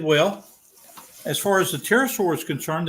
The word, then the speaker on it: pterosaur: as far as the pterosaur is concerned the p is silent that's why it was